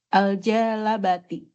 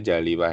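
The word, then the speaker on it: الجالبة: Kata al jalibah ini bacanya jalibah ya. Dia sigahnya isim fa'il ya.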